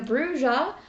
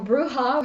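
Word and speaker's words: Brujah: I'm going to be playing a Bruja, or Bruja, however you want to pronounce it.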